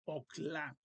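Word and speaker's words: אוכל: Entonces es ok, ok, y no se pronuncia este chiva porque la O sería una O corta, entonces vocal corta, entonces es okla.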